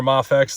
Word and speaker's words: Mafex: so we're going to or mafex depending on how you like to pronounce it but I say mayx but yeah I mean